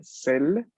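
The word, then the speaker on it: celles: Y el plural tenemos el pronombre celle, pronunciado idéntico, solo que la forma escrita veremos aparecer una S, ¿no?, en la parte del plural.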